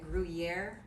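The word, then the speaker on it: Gruyère: i don't even know how to say it gruyere is that right yes cheese that is the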